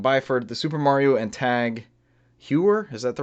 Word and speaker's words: Tag Heuer: Tag Heuer.